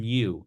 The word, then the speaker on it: mu: pronounce it me like almost like a cow mu but M mu me it's a Greek